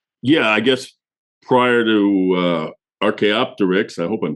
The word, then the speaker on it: Archaeopteryx: Yeah, I guess prior to Archaeopteryx, I hope I'm saying it right.